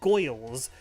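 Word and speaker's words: Gworls: I found that's really cool called For the Goyles, which is and that is how you pronounce it, by the way, which is a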